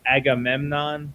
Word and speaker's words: Agamemnon: Yeah, I think the way you say his name is Anamenam. Agamemnon. Yeah. Agamemnon, yes. Yeah.